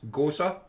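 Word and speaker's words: Gose: and ginger ghosa a ghost is spelled g-o-s for sierra e hey as they said ghosts go see but it's ghosa hey i actually knew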